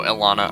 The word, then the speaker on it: Elana: so how is uh how is the Demon's name pronounced Ilana Elana oh Elana all right uh how's